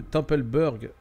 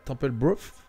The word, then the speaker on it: Templebrough: Avec, je suis dans la ville de Templeburg. Ouais, Templebrough, pardon, je pense en anglais ça se prononce comme ça.